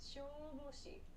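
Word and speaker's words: 消防士: Shoboshi. This word means firefighter. Firefighter. So make sure this oop and this oop, these long sounds, are clearly pronounced. So not shoboshi, but shoboshi to exaggerate.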